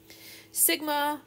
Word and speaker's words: sigma: it's the same thing Sigma which is the standard deviation the sigma is the way you pronounce it it's the standard deviation